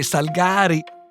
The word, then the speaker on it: Salgari: E a dire il vero noi dicevamo Salgari, e in cuor mio io continuo a dire Salgari, anche se so che la pronuncia corretta è Salgari, ha a che fare con la raccolta dei salici, qualcosa del genere, ecco, ma insomma.